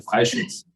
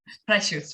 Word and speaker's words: Freischütz: No, lo has hecho bastante bien. Freischutz. Freischutz. Es alemán.